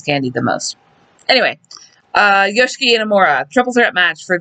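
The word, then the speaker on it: Yoshiki: Yes, it is pronounced Yoshki. Everybody at the commentary table because he is Japanese and you do not pronounce the I the first I in his name.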